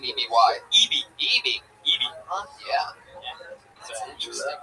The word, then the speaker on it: Eby: E-B-Y?